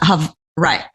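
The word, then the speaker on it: Hawaiʻi: they pronounce it, Hawaii. Hold on. They don't say it with a W. It's with a V. Hawaii. It's almost like Hawaii.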